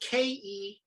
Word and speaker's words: Kerw: a little bit but it's spelled k-e-r-w yes when the w is like the german w which sounds like a v correct and uh and